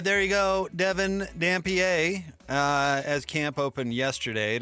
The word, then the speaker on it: Dampier: Like, how do you pronounce this guy's name? Specifically, Devin Dampier. Dampier? No, it's Devin Dampier.